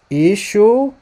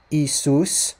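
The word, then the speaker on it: ܝܫܘܥ: Ishu Sheikha. Ishu Sheikha. One more time. Ishum Sheikha. Not Isus, like he said. Not Isus, the way that it's pronounced in Greek. Isus, not like that.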